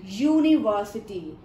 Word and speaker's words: university: But beta, it is not giving sound of U. U. Ya sound it is giving us.